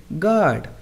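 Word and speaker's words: guard: silent रहते हैं जैसे गार्ड अब इस हम वर्ड में देखें तो हमारा यू ए रहा है तो वो साइलेंट रहेगा तो हम इसे क्या पढ़ेंगे गार्ड गैस मेंस अनुमान लगाना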